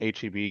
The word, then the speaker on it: HEB: Yeah, so before we get to that question, is that how it's pronounced? HEB? I thought it was Heb.